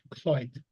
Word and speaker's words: Lloyd: Or LLOYD is pronounced Cloyd.